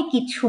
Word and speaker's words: কিছু: এটা কিন্তু না, কিছু, কিছু, এই যে কিছু, দেখবেন ছর উচ্চারণটা আপনার হাতে গিয়ে লাগছে। ছর যে মহাপ্রাণের যে বাতাসটা, সেটা হাতে গিয়ে লাগছে, সেটা বুঝতে পারছেন।